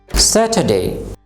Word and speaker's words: Saturday: সে এই অংশটির উপরে স্ট্রেস দিতে হবে, অর্থাৎ জোর দিতে হবে।